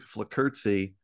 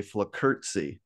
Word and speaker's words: Flockerzi: have to ask you, I feel like I'm saying it right if I say Flockerzi. There's kind of like a little T kind of thing that happens at the end there, even though there is no T.